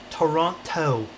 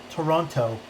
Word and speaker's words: Toronto: flows nice can you pronounce Toronto quick with the second T Toronto Toronto feel weird saying it like that how many LEDs we